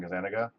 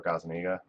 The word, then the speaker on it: Gazaniga: My YouTube channel is the same as my stream channel, so it's Gazaniga, or Gazaniga, if you're Italian and want to pronounce it proper.